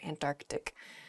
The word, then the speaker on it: Antarctic: There's sort of like almost a hiccup in the word there, Antarctic.